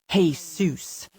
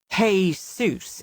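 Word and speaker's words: Jesús: man's name, calling him Jesus. Emphasis loud on the first syllable as if he is calling out to the author who wrote How the Grinch Stole Christmas. Hey Seuss is it.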